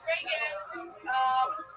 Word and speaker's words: Reagan: Hey, it's Reagan. It's spelled like Reagan because my mom named me after her.